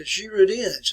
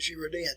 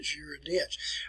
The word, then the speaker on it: Girondins: Assembly were called the Girondins, and that's the way you want to pronounce it, Girondins. It looks like it's Girondin, but Girondins.